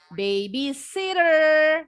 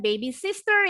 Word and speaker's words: babysitter: Contoh, babysitter. Bacanya bukan baby sister ya.